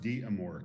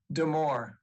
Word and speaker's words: Demore: And it's pronounced D'Amour, correct? It is pronounced Demore.